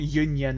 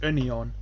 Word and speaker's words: Union: that by the way it's not Union it's not like it's British it's German so it's only on but Daniel Daniel quiere